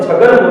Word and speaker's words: छगन: Last अक्षर न है, न को जब छगन बोलेंगे तो लास्ट में न के साथ ए का उच्चारण नहीं होगा, इसलिए अकेला न लगेगा, एन लगेगा, और ये कंप्लीट नेम हुआ छगन।